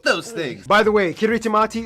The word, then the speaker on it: Kiritimati: things by the way kiritimati is the native way of pronouncing Christmas so my cabs on